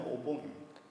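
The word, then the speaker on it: お盆: 오봉절은 우란군을 일본식으로 발음하면 오봉입니다. 우리말에도 있죠.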